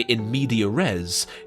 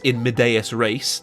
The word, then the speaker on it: in medias res: middle of things, and if you say in media res, fuck off, it's in medias res, that's how it's said in Latin.